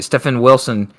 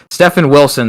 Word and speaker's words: Stefan Wilson: craziness from stefan uh stephen wilson that uh sorry there's a guy at work he's got like the same spelling and his name is pronounced differently so i got wrong there stefan wilson there this was a